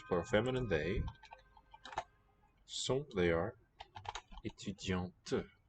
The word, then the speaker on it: étudiante: And we can hear the T. Elles sont étudiantes. The other word was spelled with T, the male form. Spelled with T, but the T was silent. This T is audible because it's got a vowel following it.